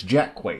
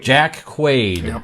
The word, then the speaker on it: Jack Quaid: uh uh Michael here says it's Jack Quake Jack Quaid that's right son is who he is